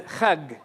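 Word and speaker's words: חג: They pronounce this as a kha. But then we also said that Beni Israel were in Egypt for a few hundred years, and so they don't pronounce it as a jim anymore, they pronounce it as a ga. So they would say Hajj as chag.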